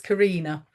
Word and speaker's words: Corinna: Well, I'm And we just going met to say although it is spelt Corinna, it's Karina.